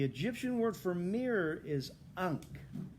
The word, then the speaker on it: ankh: it so the egyptian word for mirror is ankh yeah you know that symbol okay the egyptian word for mirror is unk how do you spell that a-n-k-h but guess